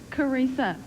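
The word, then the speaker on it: Charissa: Carissa. Carissa, but there's an H in there. Yes, and the H is silent. It's usually I tell people it's Teresa with a C.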